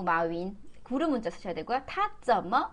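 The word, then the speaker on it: 马云: 저기 라임님 마원 아니고 마윈.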